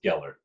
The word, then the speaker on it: Gellar: Jo eller the right the right way to say it is just drop the oh and the spelling you'll say it right it's Gellar Keller okay right from